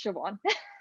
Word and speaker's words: Siobhan: I was like, it's Angourie and also it's Siobhan.